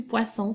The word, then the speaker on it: poisson: Alors, ne mets pas simplement un S parce que ce ne sera plus du poisson, ce sera du poison et on ne veut pas ça.